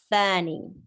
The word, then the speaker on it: ثاني: Tha is pronounced with the tip of the tongue slightly coming outside to touch the edges of your upper incisors. Tha, thani.